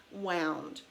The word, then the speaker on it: wound: say humming him because the pronunciation is different wound something that is wound up means that it is coiled around something tightly such as thread being